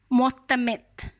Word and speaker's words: معتمد: آپ کے اس میں معتمد۔ میم پر آپ کو یقیناً کچھ بیٹا آواز جو ہے وہ پیش کی ہے، آواز آ رہی